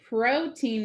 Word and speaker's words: protein: okay for the word protein we have another vcv pattern but this time we want the o to say its name protein protein and for c's